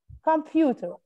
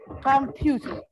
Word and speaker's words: computer: Computer. Computer. Computer. فين؟ كم ولا ب؟ يوت ولا ار؟ بت. برافو. Excellent. The second syllable. Computer.